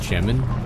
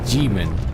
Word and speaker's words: Jimin: It's not actually pronounced Gemin. It's like Jimin. I actually looked at a YouTube video yesterday and it's actually pronounced like that. If you translate the Hangul, right, phonetically, it's not Gemin.